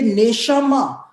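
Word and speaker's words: נשמה: क्योंकि हिब्रू भाषा के अंदर जो प्राण शब्द है उसके लिए नेशमा शब्द का इस्तेमाल हुआ है। नेशमा मतलब उसकी स्पेलिंग होती है NESHAMAH, नेशमा।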